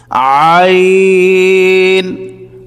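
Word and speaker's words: عين: আইন এই হরফটির নাম হচ্ছে আইন আমরা অনেকের আইন বলে থাকি আইন বললে সঠিক উচ্চারণ হবে না সঠিক উচ্চারণ হচ্ছে আইন আইন দুই পেশ আউন আইন দুই পেশ আউন হামজাহ দুই পেশ উন হামজা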